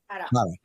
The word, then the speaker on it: Harra: How do you pronounce it? Harra.